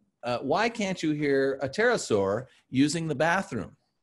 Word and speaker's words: pterosaur: So one was, why can't you hear a pterosaur using the bathroom? Because the P is silent.